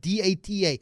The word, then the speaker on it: data: Is it the do you pronounce the word data? How do you pronounce the word data? It's dart. That's the only way to pronounce it, Mario. It's da.